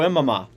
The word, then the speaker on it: Imama: Ford, I'm not going to try to pronounce that name. Bakanji Inama. Oh, Boko Imama.